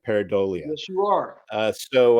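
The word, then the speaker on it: pareidolia: of seeing something in the clouds it's called peridia if I'm pronouncing that right paradia yes you are uh so uh so that's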